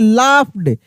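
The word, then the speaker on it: laughed: अब यहां पर भी देखिए, लाफ्ड, जी एच को हम पढ़ रहे हैं, नहीं पढ़ रहे हैं, नहीं पढ़ रहे हैं, साइलेंट है।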